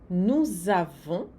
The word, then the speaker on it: nous avons: Nous avons. Fazer bem aqui a liaison, né? Nous avons. Obrigatória essa liaison.